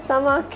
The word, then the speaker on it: Samaakhya: Yes, it's pronounced as Samaakhya.